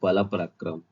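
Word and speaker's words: Balpakram: Park है, और एक बाला पराक्रम। अब इसका प्रोनाउंसिएशन कहते हैं आप लोग थोड़ा सा, बाल पराक्रम जो है।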